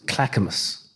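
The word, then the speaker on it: Clackamas: I went out to I'm going to mispronounce it. Clackamus.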